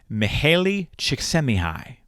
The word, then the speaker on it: Mihaly Csikszentmihalyi: He is a Hungarian-American psychologist named Mihaly Csikszentmihalyi.